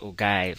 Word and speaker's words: ogive: or know it as the ogive or some persons pronounce it as o give oops sorry about that